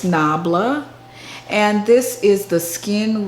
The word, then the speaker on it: NABLA: haul and that is nubella nabala nabla i don't even know the how to pronounce it but it's nabla and this is the